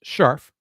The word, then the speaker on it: Scherf: Basketball, Miss Dana Scharf, spelled Scherf, but pronounced Scharf.